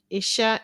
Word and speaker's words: isha: The word where you can find it example is isa isha is the ebo word for shrimp. Um it's spelled I sh a evil word that I know that has sh in it.